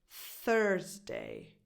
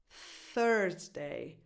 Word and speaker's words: Thursday: This is pronounced Thursday. It's the 4th day of the week, and a lot of people confuse this with the 2nd day of the week, Tuesday. Thursday, Thursday.